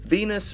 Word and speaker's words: Venis: Val Venis movie producer Venus rhymes with penis do you get that